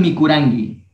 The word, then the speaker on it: mikurangi: Tú comiste kan mikurangi, ¿sí? O sea, la pronunciación aquí es con la G de gato. Kan mikurangi.